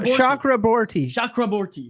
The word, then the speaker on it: Chakraborty: last name though uh it's a Bengali surname cool so shock aborti chakra chakraborty yes there that's there we go cool name man cool